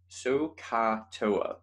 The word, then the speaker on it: SOHCAHTOA: day is definitely sohcahtoa sohcahtoa right so you have to like really enunciate that the so and the car wise it appears to